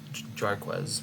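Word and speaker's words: Jarquez: Uh maybe not the pronunciation. Jarquz, pardon me.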